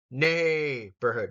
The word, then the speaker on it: neighborhood: The first syllable is going to get the emphasis here. Neighborhood.